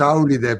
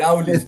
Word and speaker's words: Áulis: no me acuerdo ahora ya la pronuncié en italiano porque la leí en italiano. En italiano decimos Áulide, pero tal vez en griego claro, en Áulis, en Áulis, en Áulis, en Áulis, sí, en Áulis.